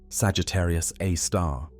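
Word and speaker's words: Sagittarius A*: Now, at the very core, at the precise center of the Milky Way's rotation, resides Sagittarius A, pronounced Sagittarius A star, the super massive black hole of about 4 million times the mass of our sun.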